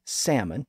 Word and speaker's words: salmon: but in this case the L remained silent which is why salmon is pronounced without the L today in most cases even though it's not